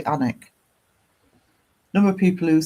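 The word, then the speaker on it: Alnwick: The name of my town is Anic. It's spelled A L. A L N W I C K because it's the river Alen that goes through it.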